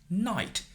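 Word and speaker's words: knight: In English, you have words like this. Night. K is silenced, but in Chinese, all pinyin are pronounced.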